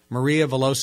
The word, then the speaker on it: Maria Veloso: books of all time the one minute cure Maria veloso am I pronouncing your name corre correctly Maria yes you